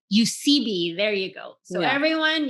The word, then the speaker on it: Eusebi: is your last name how is it pronounced sorry UCB you see B there you go so